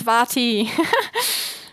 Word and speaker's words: Vati: Yes, Vati. True. Not a Z, a V.